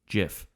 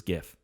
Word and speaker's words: GIF: way to say it jif versus gif yeah gif that j sound is the correct one and gif is what everyone says you know it's